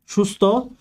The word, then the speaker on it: সুস্থ: এরপর আমরা থ দিয়ে উচ্চারণ দেখি, যেমন আস্তা, সুস্থ। তাহলে দন্তস্ব যেহেতু রয়েছে, দন্তস্বটা কি হবে, এই দন্তস্বটা নিজেই তালব্যস্য হয়ে যাবে। তাহলে এই কারণে এটা তালব্যস্য হয়ে গেছে সুস্থ।